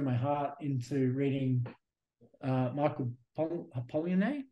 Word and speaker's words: Polanyi: I mean, like, I've been pouring my heart into reading Michael Polanyi.